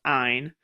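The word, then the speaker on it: -yne: They sound all kind of similar, but ane is ane, ene is ene, and yne is actually pronounced eine.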